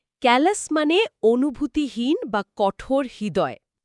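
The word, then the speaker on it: bouquet: দেখলে তো মনে হয় বুকেট উচ্চারণ হবে শেষের টি আছে কিন্তু উচ্চারণ হয় বুকে সুন্দর পয়েন্ট এটা একটা ফরাসি শব্দ তাই শেষের টি অনুচ্চারিত থাকে বিয়ে বা অনুষ্ঠানে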